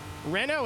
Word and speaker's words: Renault: if you don't know how FR French is pronounced Rena is very easy it's the same people